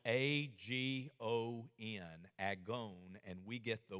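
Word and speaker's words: ἀγών: There's another Greek word, you know, because the word for strive is spelled A-G-O-N, agon, and we get the word agony from it, which describes how we feel sometimes when we go to the gymnasium.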